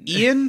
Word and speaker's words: Ayaan: Is it Ian spelled differently, or is it... She wrote a pronunciation. It's Ian. Cool. I like it's spelled Ayaan.